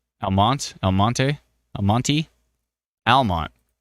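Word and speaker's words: Almonte: phone did I say elonte wrong Elmont elonte elonte Almont pronounced Almont I always why is there an e why is there an e Premier Real Estate Group says Almont the E is silent why is there any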